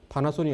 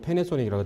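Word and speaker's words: Panasonic: 파나소닉이 아니고 패네소닉이라고 그때 발음했죠. 미국 방송으로 해가지고.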